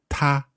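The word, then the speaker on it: 他: so in Chinese pronunciation he and she all pronounced as ta and there's no difference no only in character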